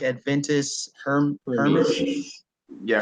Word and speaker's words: Hermes: So go subscribe to how do I pronounce? So it's like Adventist Hermes. Hermes. Yeah, Hermes.